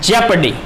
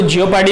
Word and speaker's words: jeopardy: अब जो हमारा ये लास्ट वर्ड है जे, तो हम इसको बोलते हैं जेपर्डी। अब बहुत से बोलेंगे इसको स्पेलिंग को देख के, JEOPARDY, जियोपार्डी। तो इसको जियोपार्डी नहीं बोलते, इसको बोलते हैं जेपर्डी।